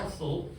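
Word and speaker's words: hostile: 이 hustle이라는 단어인데 hustle, 뭐 host이라고 읽다는 건 영국식 발음이고요. 미국 애들은 뭐 hustle라고 하는데 얘가 뜻이 뭐라고요?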